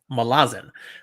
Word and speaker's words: Malazan: the Fallen depending on how you like to pronounce it says that that's how Stephen Ericson says it the author says Malazan that was his intent I know it's hard